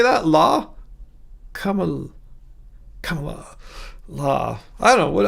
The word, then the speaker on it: Kamala: Yes, the accent for Kamala's name is on the first syllable. Kamala.